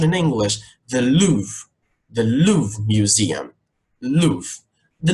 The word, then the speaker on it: Louvre: and there's Museum here let's just repeat the pronunciation in English the Louvre the Louvre Museum Luth the Louvre museum in